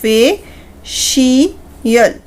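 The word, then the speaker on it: facial: अगर सी आई ए या ई ए इन दोनों कॉम्बिनेशन के साथ आ रहा है तो उसकी साउंड श में ही प्रोनाउंस होगी।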